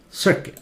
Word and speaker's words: circuit: or set cute circuit just like biscuit circuit like this one it